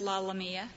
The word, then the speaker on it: LaLamia: It's pronounced LaLamia. LaLamia. I stand corrected. Thank you. Mr. Chief Justice. Like Scalia, right?